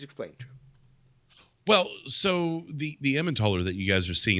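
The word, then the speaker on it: Emmentaler: well so the the ammontoller that you guys are seeing and that's how i pronounce that's probably more of an americanized way of pronouncing it but when you're talking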